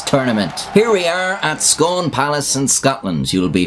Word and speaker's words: Scone: Here we are at Scone Palace in Scotland. You'll be familiar with Scone if you watch my video on the Stone of Destiny. I've been told it's pronounced Scoon, but I'll be dead